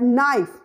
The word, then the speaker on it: knife: word knife C is silent and we just pronounce it at knife there are so many exception like com like